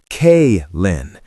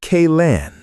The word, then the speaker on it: Kaylin: My name is Kaylin, pronounced K-Lin, not K-Lan. It's not that hard.